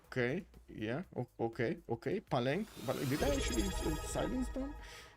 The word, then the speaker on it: Palenque: Yes, he is fairly certain that neither of the E's in Palenque is silent. Okay, yeah, okay. Palenque.